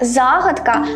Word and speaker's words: загадка: на останній склад слово загадка має тільки один правильний наголос на перший склад інше наголошування - Це